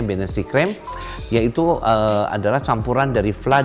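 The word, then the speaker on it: Bienenstichcreme: Binnenstichcreme adalah tulisannya B-I-N-T-I-C-H ya, Binnenstichcreme, bacanya Binnenstichcreme, yaitu adalah campuran dari fla dengan buttercream dikocok jadi satu.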